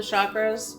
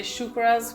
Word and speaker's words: chakra: chakras but all the chakras or let's just say shukras because that's actually the proper pronunciation rainbow that comes when